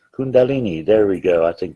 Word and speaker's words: kundalini: power of the kulandi kulen kulenmi i can't pronounce it i'm sorry kundalini kundalini there we go i think that's it the